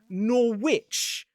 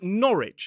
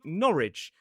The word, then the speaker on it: Norwich: It is not Norwich, but Norwich. And some people will say Norwich.